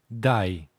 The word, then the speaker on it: daj: You can also hear it in word for give, which is dai. However you pronounce it, it will sound like dai, unless you deliberately make pause, like dai, which sounds unnatural.